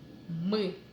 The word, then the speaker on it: мы: It might be a bit similar as in English sound, but even a bit stronger. The tongue goes even higher than with the sound Мы.